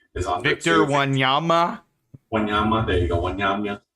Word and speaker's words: Wanyama: correctly, is on Victor Wanyama. Wanyama, there you go, Wanyama. Wanyama. Easy pronunciation, bro. Wanyama. That's even how it's spelled.